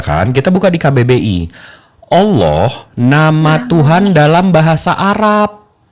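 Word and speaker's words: الله: Allah nama Tuhan dalam bahasa Arab. Jadi kata Allah ini diserap dari dari mana? Dari mana? Bahasa Arab. Ah. Alif lam lam ha itu pronounciation-nya Allah bukan Allah.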